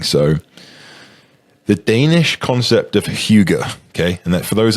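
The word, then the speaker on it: hygge: this is interesting so the Danish concept of Hugo okay and then for those that are listening that is spelled h y g g e um tell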